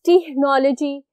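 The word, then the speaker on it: technology: Then is टेक्नोलॉजी, टेक्नोलॉजी, टेक्नोलॉजी एंड टेक्नोलॉजी. टेक्नोलॉजी हमेशा सी एच का क sound है उससे होती है.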